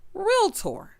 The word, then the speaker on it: realtor: when people pronounce realtor realtor there is no a after that L it's real stop and then tour real tour not real Tor oh